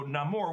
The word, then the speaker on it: Namor: To fulfill his mother's dying wish, young Namor returns to the land where he finds a slave plantation and a priest says, "Thou art a demon, son of Satan."